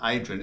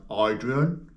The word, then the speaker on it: Adrian: they they reply back as if my name's not Adrian it's like idrian or Adrian so that's another thing